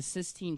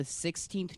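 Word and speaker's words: Sistine: the other day I found out that's pronounced the 16 chapel and not the 16th chapel like my entire life I thought there were 15 other chapels that were just not working out uh until Michelangelo decided to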